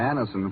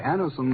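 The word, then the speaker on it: Anacin: called X when we ask you to try Anison for the relief of pain due to a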